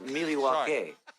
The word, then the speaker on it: Milwaukee: They have Actually, it's pronounced Milwaukee.